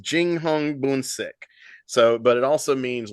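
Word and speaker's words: 英雄本色: kind of romanization of Chinese names uh is pronounced Jing Hong buik so but it also means literally True Colors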